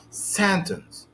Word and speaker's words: sentence: here in this word sentence sentence sentence sentence actually i have two syllables here i have two syllables the stress is on the first syllable so i say sentence not sentence okay why because the